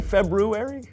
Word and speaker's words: February: foreign did you say February I know there's an R there but most people don't pronounce it oh well most people